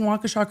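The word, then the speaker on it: Wauwatosa: Um Jamie said, "Emily, thank you for pronouncing Wauaawa correctly. I only learned because of that trial." And then when I drove past Wakaaw the last time I was in Wisconsin, I'm like, I know a thing.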